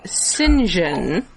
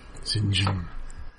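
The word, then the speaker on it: St John: Also, they made a point throughout Allardyce? the podcast to pronounce it in what would be the more accurate way, Sinjin. Oh yeah, that's true. Sinjin.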